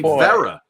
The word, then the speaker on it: Vera: So it's Billy Vera. Billy Vera and the Beatles. Rhymes with Yogi Berra.